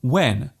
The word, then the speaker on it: when: There is actually no need to pronounce the H so strongly.